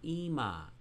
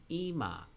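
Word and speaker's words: אמא: this nuclear vocalization it indicates that the aleph here in yellow for ima mommy has a dot underneath it for the i vowel ima ema we talked about parashat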